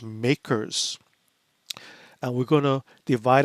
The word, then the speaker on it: MACRS: accelerated cost recovery system or the acronym is pronounced makers and we're going to divide up our assets